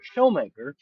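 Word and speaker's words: Schoonmaker: uh uh Thelma and I always mispronounce her last name it's actually pronounced as showmaker um uh have a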